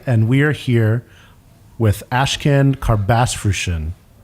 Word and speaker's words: Ashkan Karbasfrooshan: we are here with ashcan car bass version hopefully I pronounced the four syllables correctly you nailed it I'm very happy mission